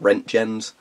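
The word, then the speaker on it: Röntgen: I like Ron Koons I think Americans pronounce it rent Jemez some people like to pronounce it as though he was French like our own Jim the I'm pretty sure it would be Rangan or Ranjan because he was German and that would be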